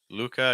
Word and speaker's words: Luca: uh then uh Luca Luca again when I'm doing that L I'm using a dark L turn my tongues down Mr um uh Jack